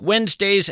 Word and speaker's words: Wednesday: If you're in fact scribbling this down, Wednesday is kind of tough to spell. It's not like it sounds. You want to spell it we enz, but that of course would be a mistake.